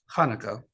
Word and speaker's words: Hanukkah: Nearly 2,200 years ago, the story of Hanukkah, pronounced with a ch, Hebrew for dedication, began.